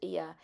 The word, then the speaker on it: Oia: Oia it's spelt, but it's pronounced Ia.